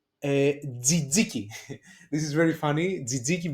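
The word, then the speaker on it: τζατζίκι: Okay, and the last consonant cluster is tough zeta. Okay, that it gives us like jaki. Jaki is the fireplace. Okay, jaki z, or tzatziki, the sauce that we use basically inside the souvlaki, or tzatziki.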